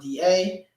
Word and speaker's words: the: The is pronounced DA.